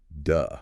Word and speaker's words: de: The middle word is just duh, like a really short D sound.